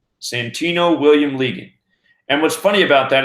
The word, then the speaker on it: Legan: Festival a 19 year old named Santino William legging League Harvey pronounced Santino William Leegin and what's funny about that is again he's